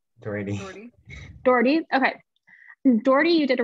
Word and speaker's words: Dougherty: told me last round how to pronounce it daughtery dot how do you pronounce your name jordy dougherty okay dougherty you did a really great job